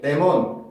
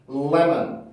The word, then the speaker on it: lemon: 자, 그러면 레몬 발음을 할 때 우리나라에서는 보통 그 많은 친구들이 레몬 이렇게 발음을 한단 말이에요. 근데 레몬 발음이 아니고 L 발음이 있는 발음이기 때문에 힘을 꾹 주고 눌러준 상태에서 발음을 해주셔야 돼요. 그래서 소리가 어떻게 난다? lemon, lemon, lemon, lemon, lemon, lemon 이런 식으로 소리를 만들어주게 돼요.